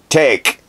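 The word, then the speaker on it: Tajic: Taji collegians edge tech take I'm gonna say take the J is silent legions edge for three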